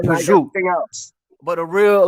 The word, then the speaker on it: prosciutto: it prosciutto or is it prosciutto prosciutto it's prosciutto like like what they might say it might be like prosciutto but a real like a real you know